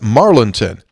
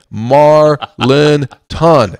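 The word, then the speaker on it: Marlinton: Road I would say you'd be hard pressed to find many in the Richwood area who cor correctly pronounce it marlington now after all these years of mispronunciation I have to think before speaking and then slowly say Marlin ton it's not easy that's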